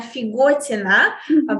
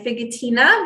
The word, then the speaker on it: Figotina: you said um my name is figuartina but um uh I I typically go by fidgetina because I find that it's easier for um